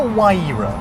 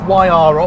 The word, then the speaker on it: Huayra: first point to make it's called the wira not the Yara or the y or the pra it's WRA one they